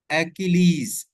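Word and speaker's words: Achilles: अब इसकी आप सबसे पहले प्रोनाउंसिएशन देखें, एक्किलीज।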